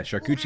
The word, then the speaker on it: charcuterie: Yeah, charcuterie is the correct pronunciation, so.